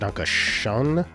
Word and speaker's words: Dankeschön: So the umlauted O in German is basically the same as OE. For example, Dankeschön, which in German is pronounced Dankeschön, Schön, and is usually spelled like this.